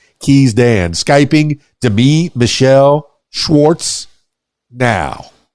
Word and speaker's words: Demi: And I pronounced my name Demi. So Demi. Instead of Demi, it's Demi.